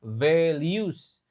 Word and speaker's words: values: I want to work here because the company's values. Nah, ingat ini pengucapan huruf hidupnya susah. Velius V lalu liu.